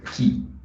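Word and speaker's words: χ: Pronuncia Ki. Escreve Xi, pronuncia-se Ki.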